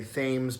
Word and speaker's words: Thames: that we're sitting on the River Thames you pronounce it Thames if you're a Rhode Islander you might be inclined to say Thames because that's the street in Newport and I